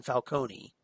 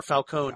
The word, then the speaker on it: Falcone: course, as Carmine Falcone, or Falcone, depending on your pronunciation. Yes. But I always preferred Falcone, but that's me. That's actually closer to the Italian, if you will, because the Italian would be Falcone.